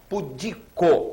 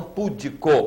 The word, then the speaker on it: pudico: é a sílaba tônica pudico e não pudico como muita gente fala pudico barbaria barbaria aquele